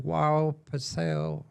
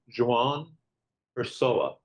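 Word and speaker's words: João Pessoa: a Brazilian in 2014, and they moved to Joao Pessoa, and I'm going to ask him to pronounce that for me a little bit later. I'll try that again. Joao Pessoa, Brazil. John the person. Joao Pessoa.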